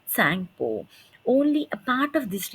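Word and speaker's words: Tsangpo: it is called as Tango okay here T is silent it is Tango only a part of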